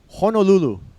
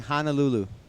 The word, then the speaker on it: Honolulu: Main city, Honolulu, has 2 O's in it. I was listening to the radio this morning. Lots of people saying Honolulu. No A's, only O's.